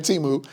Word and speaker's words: Temu: Oh, yeah, everybody finding out that they've been pronouncing Temu wrong.